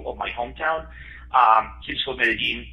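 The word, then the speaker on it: Medellín: my hometown, City of Medellin, but some of the local folk would pronounce it Medellin, like the word gene there.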